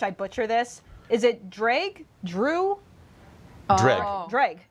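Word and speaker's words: Dreugh: Is it Dreg? Drew? Dreg. Oh. Dreg. It's Dreg. Yeah. Dreg. That's what I've been saying. Drag. All right. It's pronounced as if it didn't have some of the letters in it.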